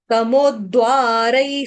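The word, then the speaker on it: तमोद्वारैः: तमोद्वा, उसके बाद र के ऊपर दो मात्रा है तो रई पढ़ेंगे इसको, रई। तम, तमोद्वारई स्त्री, तमोद्वारई स्त्री, स्त्री, स्त्री, छोटी की मात्रा स्त्री।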